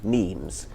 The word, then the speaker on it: meme: So I called it a meme. So it doesn't exactly rhyme with gene, but it's sort of short and sounds vaguely similar.